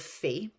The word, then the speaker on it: faite: So there's an E at the end of fait. That changes the pronunciation to fait.